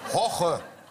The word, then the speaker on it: Jorge: Hoche, wie spricht man aus? Hoche. Er kann sehr gut meinen Namen sagen. Ja? Ja. Aber diese Woche koche mit Hoche.